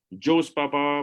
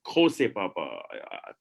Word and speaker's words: Jose Papa: Arunabh Singh, Director, Nehru World School, Joe's Papa, but a lot of Indians are watching Spanish web series on Netflix, and they now know that they are pronounced Jose Papa.